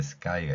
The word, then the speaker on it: sky: 자 왼쪽에 맨 위에 스카이가 있습니다 S 뒤에 K 올 때면가 쌍 기역으로 소리가납니다 그래서 스이 스카이 이렇게 까이 발음으로 연결되죠 sky 하늘이라는 뜻이고요가 붙어서